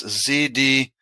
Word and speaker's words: Zdenek: It's like missing the vowels. It's Zdenek.